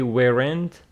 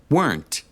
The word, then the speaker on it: weren't: it is one syllable if you say weent it is two syllables and that is incorrect let's listen to the